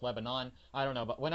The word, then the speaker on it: Lebanon: Since we may never talk about Death Proof, the country is pronounced Lebanon, okay? Anyone in Tennessee pronounces the city in Tennessee Lebanon. In the movie, they pronounce it Lebanon.